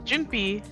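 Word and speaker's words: Junpei: So uh it's Jinpi and Kane.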